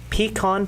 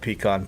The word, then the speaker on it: pecan: pie day I love pecan pie is it pecan pecan pecan depends on what part of the country you're from when I looked it up this pronunciation they gave is pecan pecans so pecan pie I